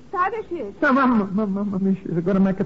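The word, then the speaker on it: Tadeusz: on Mr C Kiosco sadus I believe his first name was excuse me sir yes the name is sadish is going to make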